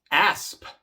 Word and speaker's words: asp: Asp, asp. Igual, la P es una consonante sorda y por eso la S también es sorda.